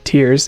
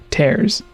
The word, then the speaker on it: Tears: a good point that tears or tears can both work for the title with the way it's spelled having a double meaning we were messaged the day of the announcement and told that it was in fact tears and not tears a friend had looked